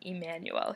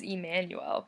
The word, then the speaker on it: Emmanuel: mind people calling me Emmanuel here," and I was like, "What do you mean? Emmanuel's not your name?" And he said, my name is Emmanuel, but in the Dominican Republic, it's pronounced differently.